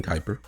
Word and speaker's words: Kuiper: And I I did get his name wrong, so it's Glen Kuiper.